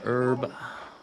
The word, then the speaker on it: herb: Green herb. But I pronounce the H in herb.